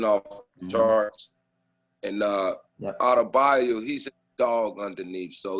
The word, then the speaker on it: Adebayo: How you pronounce his name? Adebayo, Bam Adebayo.